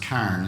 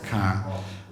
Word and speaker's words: Carhen: And when on a visit, I hope I got to pronounce it, it's spelled Carhen, but I believe it's pronounced Carn, is that right? Carn.